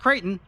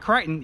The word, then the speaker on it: Kraton: And it's pronounced Kraton, not Crichton.